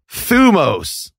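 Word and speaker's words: θυμός: Thumos, not thymos. Oh. Actually, ancient Greece doesn't have vowels, so it's like it's just scholar bullshit. But if you see that word thymos, it's thumos.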